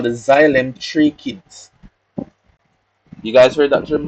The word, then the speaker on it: tracheids: we call the xylem tracheids. You guys heard that term before? Trichids or tracheids, depending on how the person pronounces it. Tracheids. That is how it's spelled.